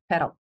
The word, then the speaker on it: PDAL: American Artist Documentation Project, also known as PDAL, which, when pronounced in Spanish, means pedal.